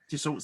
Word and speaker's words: Dassault: So was it, I don't know how to pronounce, Dassault Systems? Yes. Dassault Systems.